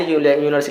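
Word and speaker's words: university: ए यूनिवर्सिटी हो जाएगा, क्योंकि यूनिवर का प्रोनाउंसिएशन यू से करते हैं, ठीक है, और हिंदी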